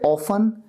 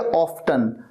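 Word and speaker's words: often: Very ऑफन, very ऑफन, ये जो ऑफन है इसे ऑफन या ऑफ्टन दोनों तरीके से प्रोनाउंस किया जाता है।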